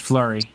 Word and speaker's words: Fleury: do it okay and your last name is pronounced flurry yeah yeah okay okay